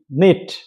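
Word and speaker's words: knit: কে এন আই টি, নিট, that means বোনা।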